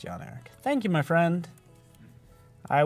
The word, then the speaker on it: Jan Erik: And it's pronounced Jan Erik.